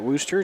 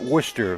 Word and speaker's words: Worcester: Coming off of a win over at Worcester, 2-2-4.